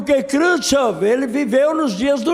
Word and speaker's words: Khrushchev: A pronúncia é Khrushchev, Nikita Khrushchev, que significa o quê?